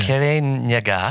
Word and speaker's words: Kirinyaga: Can I teach me how to say it or how to spell it or? K-I. Yep. R-I. Yep. N-Y-A. Yep. G-A. Okay. K-I-R-I-N-Y-A-G-A. Yeah. Kirinyaga.